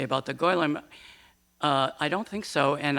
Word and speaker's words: Golem: And so, but you know, our first question used the proper Yiddish pronunciation, Golem.